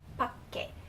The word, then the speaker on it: 밖에: But if you have it at the end, for example, 밖에, 밖에, the pak in 밖에, the Sankyo is pronounced with a K sound.